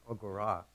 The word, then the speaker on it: agora: My wife says that the correct pronunciation of the Greek word for the meeting place in an ancient Greek city-state is agora.